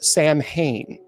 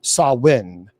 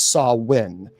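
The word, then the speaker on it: Samhain: Celtic festival known as Sam Hayne. Uh now, some people would say it's sawin. Uh it's officially pronounced as sawin. Uh some people say it's Sam Hayne that well we saw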